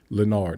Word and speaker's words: Leonard: I'm Leonard, he adds, using his real name, emphasizing the second syllable of his name, Leonard, not Leonard.